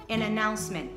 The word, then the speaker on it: announcement: an announcement an announcement e não pronuncie se T de announcement Ok não é errado se você pronunciar Mas como ele fala ele não fala não fala esse t tá Aliás ele não